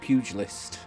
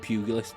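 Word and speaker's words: pugilist: We have got male as the sex and we have got uh the pugil list or pug pug puggy list. I think it's pronounced pugily list but oh well I always get it wrong anyways.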